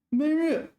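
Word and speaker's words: 闷热: 闷热. Okay, here 闷 is first tone. Here 闷 is fourth tone.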